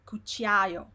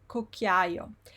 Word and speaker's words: cucchiaio: So cu is cool. Then you have cc CHI, which is chi, and then you have like 3 vowels here, a, I, o. Cucchiaio, cucchiaio. Most people, what they do, they see this CHI here, and they say cucchiaio. No, the word is cucchiaio.